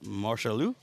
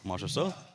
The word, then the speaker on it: Marchessault: Up next, we have Marchalou at 320 pounds opener. I definitely butchered your last name. Marchessault? Marchessault.